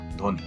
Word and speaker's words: ধ্বনি: শব্দের আদিতে যুক্ত ব্যঞ্জনে বফলা সাধারণত উচ্চারিত হয় না।